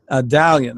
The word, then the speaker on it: Adalian: is it is alien is that how I pronounce it Italian Italian okay and so thank you so much